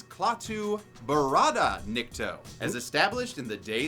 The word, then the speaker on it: Klaatu Barada Nikto: Klaatu. Nicto! But he doesn't say every single little syllable right, since the actual phrase is Klaatu Barada Nikto, as established in The Day the Earth Stood Still.